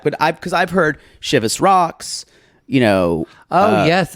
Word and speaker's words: Chivas: has been pronounced wrong I've always heard it as shivas shivas maybe that is that's for me working in bartending maybe it's because of in the South or Michigan Heather says shavas cript rhymes with Shiraz y'all I don't know come at me maybe I've been saying ship us my whole life I don't know I